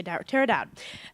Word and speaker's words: Tara Dowd: I had Fidalgo Elementary School, and I had the pleasure of talking to Miss Tara Dowd. That's how you say it? Yes. Okay, Tara Dowd.